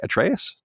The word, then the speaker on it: Atreus: atreus that's how you say his name right atreus yeah yeah the game itself cost 60 on